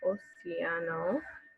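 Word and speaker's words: océano: In Spanish, you do pronounce it oceano, but in English, it makes a different sound, ocean.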